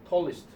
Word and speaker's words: tallest: tallest. 여러분 최상급 발음할 때는요 EST는 무조건 east다. ER은 무조건 어리고 발음할 때 무조건 신경 써라.